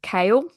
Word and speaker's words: Kale: I did look up who is kale not Cole not kale not oh is